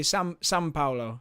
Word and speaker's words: São Paulo: The Brazilian Grand Prix at Sao Paulo, or São Paulo, like with an N. That's kind of how they pronounce it in Brazil. Yeah, they always say São Paulo.